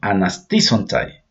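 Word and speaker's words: ἀναστήσονται: Esta palabra en griego se llama, se la pronuncia anasisontai.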